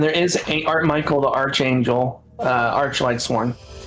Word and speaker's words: Archangel: It's Archangel, not Archangel. Archangel. It's spelled arch, but it's pronounced arc.